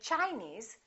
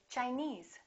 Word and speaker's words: Chinese: some rules regarding suffixes if the word ends with e-s-e we stress the suffix for example Chinese we don't say Chinese we say Chinese Japanese Portuguese alright here's